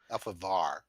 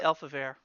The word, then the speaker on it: Elfaivar: Alphavar. Yeah, Alfavar. Alfavar? I say Elfavir. No, you're saying it wrong.